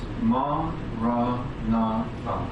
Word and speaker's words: Maranatha: If you choose this word, say it as 4 syllables. Ma, ra, na, fa.